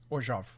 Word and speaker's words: Orzhov: Orzhov. Which is how they say it. I don't like saying it like that because it feels like too much work.